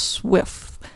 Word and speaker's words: SWF: Its extension was SWF, and it's usually pronounced SWIFT.